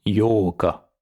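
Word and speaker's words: 八日: On fera attention à bien faire la différence entre le 4, Yokka, et le 8, Yoka.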